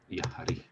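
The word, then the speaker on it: やはり: You kanjify these, yappari, yahari. This is sometimes pronounced yahari.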